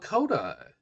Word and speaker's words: Lakota: throat and cough] Lakota. Okay. Have to remember that. Lakota rhymes with South Dakota, which was part of the territory.